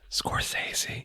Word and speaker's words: Scorsese: You've got somebody like Scorsese. Scorsese. Yeah, that's how you say it.